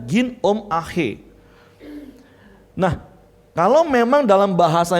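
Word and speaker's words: γίνομαι: Nah, bahasa Yunaninya adalah ginomai. Kalau pelafalannya ginom ahe.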